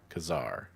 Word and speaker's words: Khazar: The political pronunciation would be Khazar Khazar. Okay. Wait. So I was right. I'm too tired for this guys. I'm too tired for this. K A Y Zar or K A like the like I guess the way it's spelled. That's kind of counter counterintuitive. Kazar. Or that would be like the question K, right? Like like Spanish Kar.